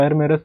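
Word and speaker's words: Yermarus: क्या नाम है एरम इसमें वाई साइलेंट होता है तो इसको एर मेरस पड़ा जाता है ये थर्मल पावर प्लांट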